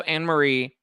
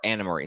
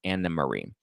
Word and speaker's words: Anne Marie: I mean, or Anna Marie. Sorry, it's spelled Anne Marie, but it's pronounced Anna Marie because it's German.